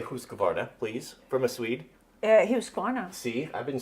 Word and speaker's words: Husqvarna: How do you pronounce it properly? IKEA. IKEA. Yeah. How do you say Husqvarna, please, from a Swede? Husqvarna.